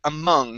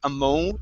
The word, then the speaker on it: among: go to the word among instead whoops right here instead of ammo among okay give me an